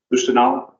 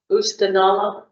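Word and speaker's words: Oostanaula: And how do you pronounce that, river? Oostenaula. Oostenaula.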